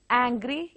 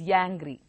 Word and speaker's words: angry: Angry is yangry. Able is yable.